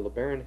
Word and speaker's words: LeBaron: That's a bronze 1961 Imperial LeBaron. You pronounce it just like it was spelled.